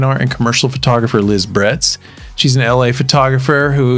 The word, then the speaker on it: Bretz: me it really is how do you say your last name correctly it is Brett it is Brett yeah Liz Brett's I